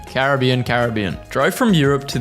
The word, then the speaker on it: Caribbean: Do you say Caribbean or Caribbean? So this person says Caribbean, but he pronounces Pirates of the Caribbean the other way. But I say Caribbean for everything. Caribbean, Caribbean.